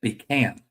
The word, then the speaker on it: pecan: Okay, this one's going to be, how do you say, I say pecan. Some people say pecan, which was an argument today.